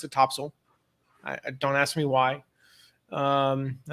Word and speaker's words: Topsail: but i'm from north carolina so um we pronounced it topsail don't ask me why i think it's just